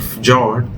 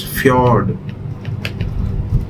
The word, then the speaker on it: fjord: Not many people would even know that the way to pronounce this word is not fjord. It is actually pronounced as fjord.